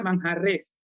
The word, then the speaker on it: Manjarrés: Se pronuncia manjarrés, que tienes un apellido un tanto particular, ¿no?